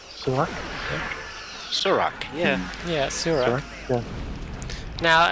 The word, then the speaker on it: Surak: Am I pronouncing Shirak right? Shirak? Surak, yeah.